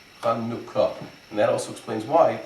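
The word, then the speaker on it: חנוכה: Instead, it's Chanukah, and it's a short U sound, Chanukah.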